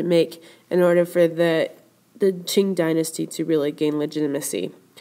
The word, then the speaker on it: Qing: The Qing dynasty, spelled with a Q.